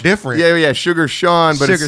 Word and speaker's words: Sean: Wait, But his wait, name Sugar is spelled different. Yeah, Sugar Sean, but Sugar it's Sean, it's but spelled S-E-A-N.